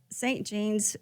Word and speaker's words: St. Jeanne's: It's pronounced. So St. Jean's is named after the patron saint, Saint Jean Jugan, who was a French nun.